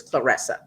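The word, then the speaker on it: Claressa: I was saying Clarissa. Clarissa. Clarissa, but it's Clarissa.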